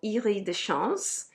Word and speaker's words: Iris des Champs: I never really reached for it, and it's called Iris de Chance from Oubigon. I mean, Iris des Champs is how you spell it, just so you know which fragrance I'm talking about.